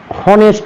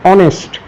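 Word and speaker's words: honest: তারপরে রয়েছে অনেস্ট এখানে প্রথমে এইচ দিয়ে শুরু কিন্তু এইচটা উচ্চারিত হচ্ছে না হনেস্ট নয় এটার উচ্চারণ হচ্ছে অনেস্ট।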